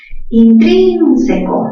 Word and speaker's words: intrínseco: Intrínseco, mayor fuerza ¿dónde? En trin. Última sílaba co, penúltima c, antepenúltima trin. Palabra esdrújula también se tilda.